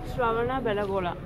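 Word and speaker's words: Shravanabelagola: So how do you pronounce the name of this place? Shravana Belagola.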